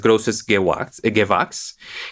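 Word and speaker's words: Großes Gewächs: Por lo que tengo entendido, como se pronuncia es Grosses Gewachs, que es una distinción que se otorga a los mejores viñedos en Alemania.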